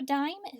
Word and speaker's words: dime: that's the consummate M now in order for that I to say the long I sound I need to have that silent e tucked in there as well so diamond spelled D I M e and that doesn't make a sound it just works on that I to make that long I sound sometimes I'd